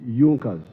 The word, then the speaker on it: Junkers: It is written Junkers, but they pronounced pronounce it Junas.